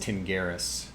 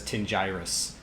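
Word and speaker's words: Tingiris: when Alexa so this my name is pronounced pronounced Tim Garris but when Alexa pronounces it she says tinge iris and so this is a really common case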